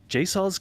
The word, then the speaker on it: Jasozz: It's Cultic's dev Jason of Jasozz Games. Did I pronounce that right? Or was it Jasozz?